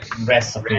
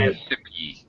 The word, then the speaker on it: recipe: uh a okay recipe this is such a commonly mispronounced word recipe recipe yes uh easily understandable why everyone mispronounces this word is because we have the I PE you all recognize the pattern e at the end of the word means that the vowel should be a long vowel sound which is